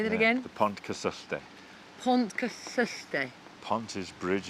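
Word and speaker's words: Pontcysyllte: the aqueduct but please help me with the pronunciation of it the P Aqueduct say that again the Pont custe Pont custe Pont is Bridge of course and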